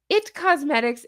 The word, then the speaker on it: It Cosmetics: See, now I'm pronouncing them both wrong. It's It Cosmetics and IT crowd.